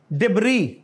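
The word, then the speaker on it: debris: is this मलबा लेकिन इसमें एस साइलेंट है डिब्र एंड व्हाट इज दिस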